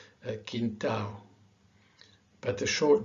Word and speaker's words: quintal: Because the tendency for an English speaker is to really pronounce the L, quintal, legal, Brazil, sol.